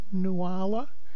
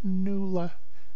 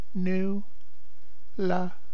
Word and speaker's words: Nuala: and they pronounce it noala which I get all the time uh from people who don't know it's Irish I get a lot of nuala but it's nula new LA and my middle name